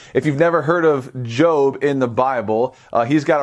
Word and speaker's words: Job: of a guy named Jobe and this guy's name is so unique in and of itself that's because it's spelled like the word job right like Jo B if you've never heard of Jobe in the Bible he's